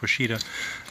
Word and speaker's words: Ouachita: H IIST he I think but it's spelled pronounced Washita that trail is 223 miles it starts in